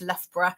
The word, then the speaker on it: Loughborough: Um, we are our main campus is in Um, don't be afraid by the word LRA. I know it looks quite difficult to pronounce, um, but is actually quite simple, just Lurra.